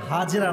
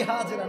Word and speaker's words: হাজার: হাজেরা নাই। নাম হচ্ছে বিবি হাজ। না আমি আপনার ভুল ধরা ভালোবাসার সাথে। এটা কোন অপমান নয়। আমরা বলি বিবি হাজেরা না উচ্চারণটা হচ্ছে বিবি হাজার আচ্ছা ইসমাইল আলাইহিস সালাম